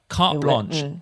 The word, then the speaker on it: carte blanche: But again, no need to make it sound French. Carte blanche. そっか。 Carte blanche. カフトブロンシュ。